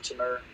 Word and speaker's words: Timur: Timur, that's how you pronounce his name.